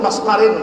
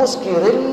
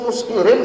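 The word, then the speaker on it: مسكر: Dalilnya sabda Rasul sallallahu alaihi wasallam, kullu maskarin haramun. Bodoh, kacau digambur kullu maskarin sudah membaca itu dalilnya. Urang muskirin bacanya. Kullu muskirin setiap yang memabukkan itu hukumnya sini membaca kullu maskarin.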